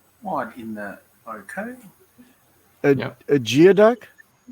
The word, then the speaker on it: geoduck: large one yeah okay it's pronounced it's pronounced gooey duck it's a gooey duck oh yeah jesus what